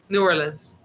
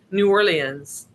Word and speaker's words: New Orleans: So, proper pronunciation, New Orleans, like I've been saying or New Orleans. New Orleans.